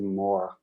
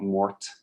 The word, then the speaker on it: mort: are we saying okay that's why you pronounce it more not mort because it's from french and that makes total